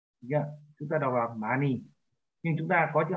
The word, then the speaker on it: 많이: Yeah, chúng ta đọc là mani.